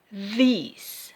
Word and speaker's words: these: Dibacanya these. Seperti huruf I.